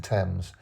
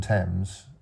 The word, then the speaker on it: Thames: the H into into temps but as you can hear from my voice we don't pronounce the h so it's it shouldn't